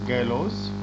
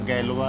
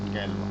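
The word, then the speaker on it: Galois: पहली बार 1830 में group word was coined by गैलोस। Pronunciation इनका गैलवा है, गैलवा।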